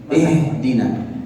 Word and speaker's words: اهدنا: فحتى أنطقها نطقا صحيحا أنتقل من الكسر إلى سكون الهاء، وعند سكون الهاء يخرج الهواء من الرئتين. اهدنا اهدنا.